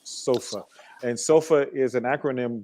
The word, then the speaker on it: Soofa: seem to smell it a lot of people see the spelling of it and they pronounce it suffer but it's actually pronounced sofa and sofa is an